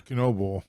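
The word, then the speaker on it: Knoebel: Or maybe it's Canobyl's because it's believe it is Canobyl because it is spelled like I did. Yes, I heard someone announce it as Canobyl. Yeah, because it is spelled like the famous amusement park.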